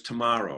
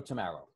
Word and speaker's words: Tamma: pronouncing your name right it is tomorrow right tomorrow yes i i like to say uh straight as an arrow tomorrow ah okay that's it